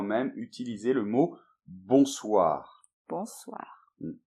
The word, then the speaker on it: bonsoir: Bonsoir. Donc attention à la prononciation, bonsoir. Bonsoir, en un seul mot.